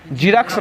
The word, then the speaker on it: Xerox: और जीरक्स का स्पेलिंग बोलिएगा तो, वाह सर क्या बात है, क्या बात है, XEROX, किसका नाम होता है, ये जीरक्स का नाम होता है। ये जेड से स्टार्ट नहीं होता है, XE यार होगा